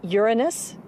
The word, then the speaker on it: Uranus: pronounce the planet's name Uranus which is very likely closer to the original pronunciation of the name of the God afternoon was named if